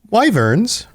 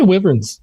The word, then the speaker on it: wyverns: Wyverns.